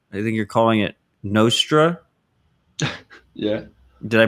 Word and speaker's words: Nostr: a distributed twitter i think you're calling it nostra yeah did i pronounce it right yeah i'm not sure i